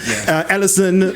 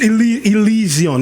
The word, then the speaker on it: Elysian: I used to say Elysian, Ellison, but it's Elysian, right?